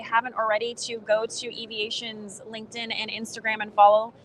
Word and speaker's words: Eviation: It's like electric and then aviation, and you smash it together. So Eviation. Perfect.